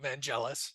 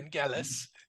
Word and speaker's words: Vangelis: And by the way, that is the proper pronunciation. It's not Vangelis, it's Okay. Vangelis.